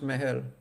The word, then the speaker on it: Mahal: It's so that's like it's a thing, like people outside or like people in the West usually call it Taj Mahal, and it's also spelled that way, but it's actually pronounced Mahal.